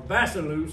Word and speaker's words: Basileus: It said, Jesus of Nazareth, the king, or the Basileus, or Basileus is the pronunciation, the king of the Jews.